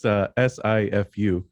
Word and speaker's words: Sifu: I do have a student, and it's SIFU.